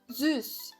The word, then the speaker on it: süß: Ele tem som de U. Então, você vai fazer o biquinho também. Você vai manter a língua aqui atrás, como eu disse. E você vai fazer o som do I agora. Süß.